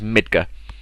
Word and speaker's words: Midgar: which is known as Midgar, or Midgar. You know, pronunciations sometimes vary, but the official pronunciation is Midgar. The R is silent.